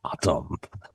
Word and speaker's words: autumn: The N is silent.